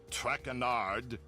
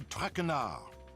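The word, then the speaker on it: Traquer: As for my name, not Trackard. It is Trakar.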